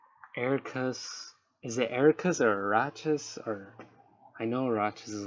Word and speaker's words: Arachas: Witcher, how to pronounce Arcus, which is not how you pronounce it. Arachas.